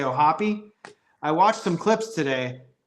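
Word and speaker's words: O'Hoppe: way to pronounce Logan and some people say oh hop some people say oh Hopi I watched some clips today the people that work for the Angels who interview him refer to him as Logan Oh happy so that is the correct way to say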